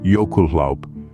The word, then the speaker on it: jökulhlaup: This Icelandic term, pronounced jökulhlaup, refers to a sudden release of water when a volcano's fiery heat melts a substantial amount of glacial ice.